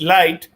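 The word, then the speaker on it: lighght: the idea was this those two uh words gh are normally not pronounced you know so so it's it's it's it's light and to stress on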